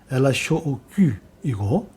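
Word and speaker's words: L.H.O.O.Q.: 그는 거기에 검은 편으로 수염을 그려 넣었고 알파벳의 대문자로 Looq라고 적었지요.이를 이를 프랑스어로 발음하면 엘라쇼오귀이고 그 뜻은 그 여자의 엉덩이는 뜨겁다이지요.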